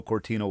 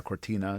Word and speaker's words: Cortina: midst of the uh Milano Cortino Olympics here. uh Cortina, did I pronounce that properly?